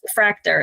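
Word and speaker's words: Fraktur: Fractor. And that's spelled F R A K T U R.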